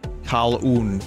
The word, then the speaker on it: Kaluan: Kal-oon. There's nothing that makes it a three-syllable name.